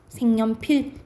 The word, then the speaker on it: 색연필: 색 플러스 연필이 있어, 여러분. 그러면 앞에 받침이 있고 뒤에 여가 왔으니까 연필이 되겠죠. 니은 첨가 일어나겠지. 근데 기억이랑 니은 만났다. 그러면 비음화 일어나니까 색연필 이렇게 결과적으로 발음 나는 거예요.